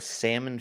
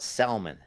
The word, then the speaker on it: salmon: We're the salmon fishing capital of the world, the Rogue River. And people will call it salmon. Salmon. Salmon. No L there. There's no L.